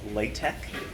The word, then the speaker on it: LaTeX: So it looks like the word latex. If you call it latex, I won't get mad at you, but you'll want to pronounce it LaTeX anyway in case you're dealing with a real snob.